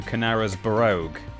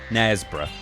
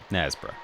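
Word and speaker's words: Knaresborough: Uh Nesbra, it's a twocllable place name, but Canarz Barogo, he he turned it into five. It has a kn at the beginning. It has a bur at the end.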